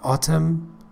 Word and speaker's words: autumn: خب spring، spring به معنی بهار، season یعنی فصل، season، و autumn autumn که انش تلفظ نمیشه به معنی پاییزه که همون فال هست.